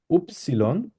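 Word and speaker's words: Ypsilon: হচ্ছে ভে ভে এক্স উপসিলন এটাকে আমরা ইংলিশে বলি হচ্ছে ওয়াই বাট আমরা জার্মানে বলবো হচ্ছে উপসিলন উপসিলন তারপর হচ্ছে সেট খেয়াল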